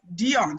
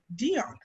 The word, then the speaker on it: Deun: so it was so it just really phonetically pronounced it as a french you know like dion so he said oh dion and he said oh